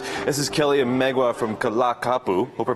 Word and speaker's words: Ka La Kapu: performance for us this is Kelly Oma from kalak kapu hope I pronounced that right that's correct excellent you guys